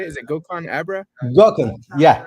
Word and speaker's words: Gokhan: Gokhan. Yeah, Gokhan.